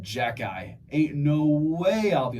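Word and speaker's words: Xhekaj: Dude, if you looked at that and someone told you, yeah, you pronounce that Jack-eye, ain't no way I'll be able to.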